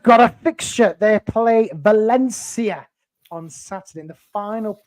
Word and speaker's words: Valencia: would just like to correct you on your pronunciation Valencia Valen Valencia Valencia Valencia yeah but they're a